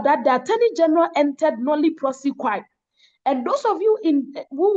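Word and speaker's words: nolle prosequi: Kobe taught you, you would know that the Attorney General can enter nolli prosequi. Anyhow you pronounce it, it is nolli prosequi, nolli prosequi.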